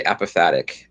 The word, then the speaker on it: apophatic: On the other hand, I'm starting something new of finding God in the contradictions, like doing the apophatic. I like that. That's how you pronounce that.